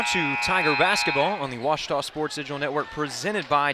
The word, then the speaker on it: Ouachita: University back in Texas everybody pronounces it Wichita but really it's Ouachita Washington how would you pronounce it washater it's Ouachita Baptist University get it